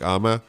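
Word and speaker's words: Âme: If you guys want to look them up, it's AME is how you spell it, but it's pronounced like Ama.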